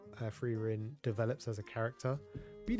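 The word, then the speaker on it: Frieren: I actually found out only recently that I've been saying it wrong. I've been saying Frerin, but it's actually Freerin.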